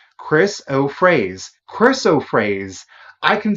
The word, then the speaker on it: chrysoprase: Pronounce Chrysoprase. Chrysoprase.